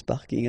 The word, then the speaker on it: parking: tend to use this parking as well so I know it's coming from English but still you should pronounce it the French way parking parking okay and